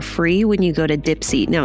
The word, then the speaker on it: Dipsea: So, I have talked about Dipsy a few times on the podcast and now